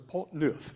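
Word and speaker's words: Pont Neuf: I covered which was the polt newth which is how you say it which means new bridge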